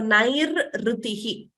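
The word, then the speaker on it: नैरृतिः: So nairrutihi. Nair, there, that is the first vyanjanam you're hearing. Then rutihi, that is the swara you're hearing.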